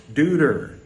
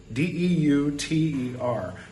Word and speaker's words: Deuter: would assume that it's Deuter, D-E-U-T-E-R. But what they don't realize is that with a German pronunciation, it's Deuter, because they don't say Zeus, they say Zeus, which sounds a little like Zoinks.